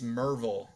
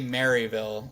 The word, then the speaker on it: Maryville: It's Merville. Okay. You don't say Maryville.